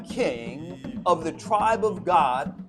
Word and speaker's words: Gad: Join me today as we discuss the reigning king of the tribe of God, often spelled G- A D in English, but pronounced God in Hebrew.